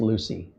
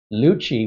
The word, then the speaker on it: Lucie: Pronunciation of the Florida county and city are pronounced Lucy. Okay, I got it right. Lucci would be the sound